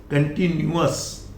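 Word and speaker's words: continuous: सो नॉट यस, कंटिन्यूअस, अस।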